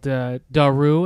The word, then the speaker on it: Dahroo: so a close childhood friend of mine and I have developed a team called Daru, and I'll spell it's a DAHROO.